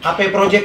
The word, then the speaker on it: AP Project: AP Project ya? AP Project. Apa atau AP? AP. Ya kalau salah teman-teman yang lagi nonton di live IG bisa komen ya. Sebenarnya bacanya Up atau AP Project AP.